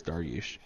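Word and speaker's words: Dariush: I'm gonna say duration I've heard of that guy that's why I knew how to pronounce his last name I'm just I'm pretty sure it's dargush yeah that those three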